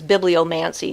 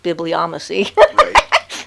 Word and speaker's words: bibliomancy: his line or whatever i guess it's bibliomancy not bibliomacy but hey that's fine